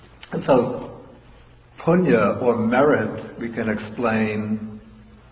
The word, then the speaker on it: punya: that they so appalling it's Punia in sanskrit pronounced the same way with spelling a little bit different and so punya or merit we can